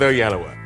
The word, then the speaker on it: Oyelowo: the increasingly popular interpretation that was established by Oprah Winfrey. She taught the nation how to do it. Let's stick with Oyelowo.